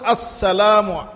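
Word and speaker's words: السلام: হল না এটা মানে সালামের আসল উচ্চারণ হল নাউনি আসসালামু হামজা আসসালামু উচ্চারণ করাইতেন আর কি আমরাও মসক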